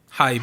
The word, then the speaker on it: HYBE: The correct pronunciation, according to Korean, is HYBE, Hype. Hype. It is hype. which is also how we pronounce hive, like a beehive.